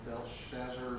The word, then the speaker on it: Belshazzar: But Satan was working on Belshazzar, is how you pronounce his name, to just blind his mind.